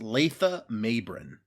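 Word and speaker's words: Latha Mabrin: All right, so in his article in Memory Alpha, it does say that the script specifically calls out his name is pronounced Letha Mabrin.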